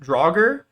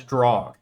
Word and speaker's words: draugr: old norse undead creatures can't be pronounced draugr or as draw or if you're talking about multiple draugr as dragar they are also mentioned